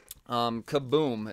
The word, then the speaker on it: Kaboom: outs from comic books kaboom is actually like the sub publisher I believe is how you would say that well that's definitely how you say it but yeah so anyways